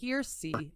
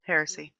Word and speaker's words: heresy: Process that would radically transform the Western perception of witchcraft and associate it with heresy and the devil. By the 14th century, Heresy. It's pronounced heresy.